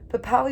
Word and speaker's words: Puhpowee: Puhpowee was 3 syllables and meant the force which causes mushrooms to push up from the earth overnight.